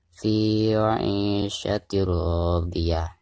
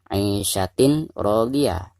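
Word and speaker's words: في عيشة راضية: Jadi cara membacanya fi 'ishatir radiyah. Jadi bukan dibaca 'ishatin radiyah, tetapi suara tanwin di sini harus dimasukkan ke huruf ro ya.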